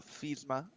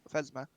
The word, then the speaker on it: Pharasma: Do you have any other altars here, or is it obviously are you mainly a place of worship for Phasma? Pharasma.